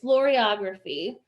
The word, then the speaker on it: floriography: an official um term we looked up the pronunciation of it just before this it is floriography um which makes me think of dancing flowers